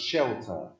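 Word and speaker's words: scelta: So in Sicilian, The word for choice is shelter. Shelter. It's pronounced shelter. In English, shelter has a very different meaning.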